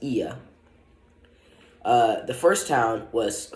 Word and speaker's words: Oia: was in was called IA it's spelled like oia but it's pronounced IA uh the first town